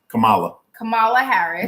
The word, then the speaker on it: Kamala Harris: Moving on to the vice president, Kamala Harris, Kamala Harris. Yeah, that would be how you pronounce it.